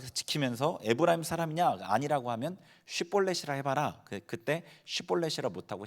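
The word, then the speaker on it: שיבולת: 뭐 요단 나루토 지키면서 에브라임 사람이냐 아니라고 하면 쉬폴레시라 해봐라 그때 시폴레쉬를 못하고 10볼레시라면 죽여버렸어요 그러니까 방언이 있었던 거야 서로 다른 방언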